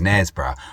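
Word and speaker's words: Knaresborough: I just looked it up. It is indeed Nesbra. So, no further bad pronunciation from me from the rest of this video. It is Nesbra.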